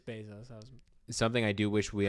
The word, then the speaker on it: Bezos: I don't know how you say it. I'm always going to say Bezos. No, it is Bezos.